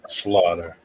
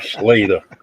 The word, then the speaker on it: Slaughter: Ramos, and my guest, my honorable guest, Slaughter. See, I know how to pronounce his last name, unlike somebody else on this podcast that's having problems and difficulties and want to call you Slater.